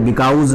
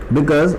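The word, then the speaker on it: because: बिकॉज का spelling देखिए, बिकाउज नहीं बोलना है, बिकॉज most of the earth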